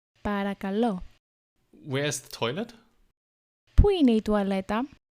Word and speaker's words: παρακαλώ: Παρακαλώ. Παρακαλώ. Παρακαλώ.